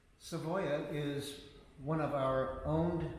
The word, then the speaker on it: Savoya: the sound of that in fact it's the way it's spelled in in spanish no one would get it correctly said so we just did it phonetically s-a-b-o-y-a so people could say it the way that we wanted to hear it um so it was